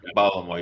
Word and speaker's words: Baltimore: was in Baltimore right Baltimore you got balore you got to run it all together balore no pronunciation no Sy